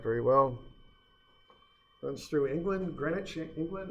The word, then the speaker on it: Greenwich: Runs through England, Greenwich, England. It's spelled like Greenwich, but it's pronounced Greenwich.